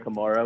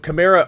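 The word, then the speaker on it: Kamara: should be called but chimra already said he calls himself chimra his mother calls him Kamar or calls their last name Kamar so he's actually come out and said that it's either way but aan is telling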